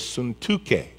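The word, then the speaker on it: Syntyche: and i implore now the way you pronounce it in hebrew is suntuke to be of the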